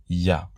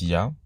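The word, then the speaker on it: יה: Il est reconnu que ces 2 lettres rassemblées se prononcent Ya.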